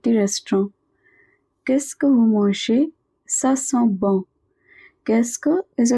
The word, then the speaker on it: mangez: Vous mangez means you are eating. What are you eating? EZ at the end of a verb is always pronounced as A.